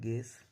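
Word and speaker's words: guess: जैसे जी यू ई, अब देखिए ये क्या है? वॉवेल्स है, और ये क्या है? जी, ये दोनों के बीच है तो यू का उच्चारण नहीं करेंगे। उसी तरह यहाँ जी है और यू के बाद वॉवेल्स है तो यू का उच्चारण नहीं करेंगे, इसलिए इसको पढ़ा जाता है गेस, गार्ड, गेस्ट। चूंकि यू का उच्चारण नहीं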